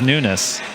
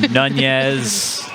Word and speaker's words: Nunes: My last name is Nunes. And people say Nunes? Nunes or Nunez.